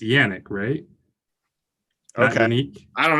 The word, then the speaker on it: Yannick: a man I think we are saying Yonex name wrong it's Yannick great Oh Kenny I